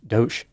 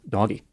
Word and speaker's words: DOGE: department of government efficiency it's pronounced do instead of doggy this is a missed opportunity doggy is a much better name either way Trump designated